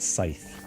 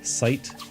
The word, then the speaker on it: scythe: I've heard some different pronunciations of it, but Scythe. Scythe with TH.